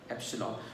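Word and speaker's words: epsilon: अभी देखो student, एप्सिलॉन ई जैसा ये जो स्ट्रक्चर है एप्सिलॉन, इसको क्या प्रोनाउंस करना है? एप्सिलॉन, और उसका मतलब क्या है?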